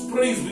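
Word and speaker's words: προορισμός: A palavra que se pronuncia em grego, predestinação, é uma palavra antiga que quer dizer prorismos. Prorismos é a pronúncia da palavra predestinação.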